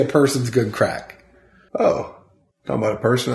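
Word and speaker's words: craic: It's good crack. Good crack. It's Irish slang. Oh, I didn't know. Yeah. But it's spelled C-R-A-I-C.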